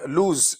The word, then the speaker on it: lose: Next is this is लूज, LOSE, लूज. सो इट इज नॉट LOOSE, वो दूसरा होता है, वो लूज होता है, ये लूज है, LOSE, लूज.